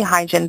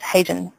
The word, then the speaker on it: Hyejin: my name is hyen and I am 19 people call me hygien but actually should be pronounced as hyen correcting mispronunciation of my